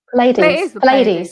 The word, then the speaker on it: Pleiades: this right, but the Pleiades, how do you say it, Louise? Pleiades.